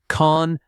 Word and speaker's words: convenience: The word convenience has stress on the second syllable. Convens.